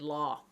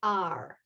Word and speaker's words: law: It's not the lore of love, it's the law of love.